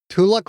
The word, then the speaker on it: Tuluk: Tuluk rhymes with luck, and that is one lucky little leader.